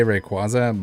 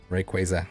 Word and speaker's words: Rayquaza: is it for you I used to say Rayquaza but then I learned that it's Rayquaza like a quasar I've always said Rayquaza I changed I changed